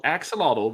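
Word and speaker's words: AKxolotl: only working on it it's called Axolotl but it's spelled AK zolato because it's an axolot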